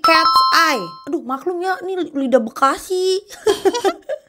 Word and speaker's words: KATSEYE: Oh, jadi cara bacanya bukan KatSeye guys, tapi Cat's Eye.